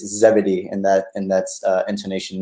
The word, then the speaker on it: Zebedee: wanted to to attest to it it's it's Zebedee in that and that's intonation there but second